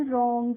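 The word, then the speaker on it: wrong: नहीं करते हैं इसीलिए डब्लू के बाद जब भी कभी किसी वर्ड में आपको आर दिखेगा तो उसका प्रोनाउंस एशन क्या होगा रा करके होगा जैसे होता है डब्लू आर ओ एन जी रंग तो हम उसको बंग नहीं पढ़ते हैं क्या पढ़ते हैं रंग पढ़ते हैं ऐसे ही राइट है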